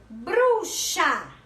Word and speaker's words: bruxa: Bruxa. Da mesma forma, X com som de CH.